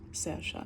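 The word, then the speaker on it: Saoirse: S um s's um Irish word for freedom Liberty but it's pronounced Sasha s a o i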